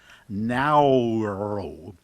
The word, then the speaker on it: Nauru: But they said that this is closer to the pronunciation that the natives have, Nauru.